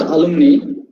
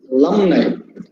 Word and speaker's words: alumni: use the term alumni it is not alumni it is alumni alumni the second syllable is stressed alumni my song you